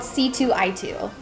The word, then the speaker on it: C2I2: Okay, so the acronym is CCII, but it's called C2I2.